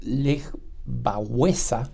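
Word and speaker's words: Lech Wałęsa: probablemente el nombre de lech walesa o como se pronuncia en polaco le baesa les resulte poco común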